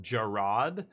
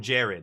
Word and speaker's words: Gerard: ago when uh I guess his name is pronounced Gerard, but I know people in real life called Jared and their name is exactly the same spelling. And so I called him Jared and my buddy's like his name is Gerard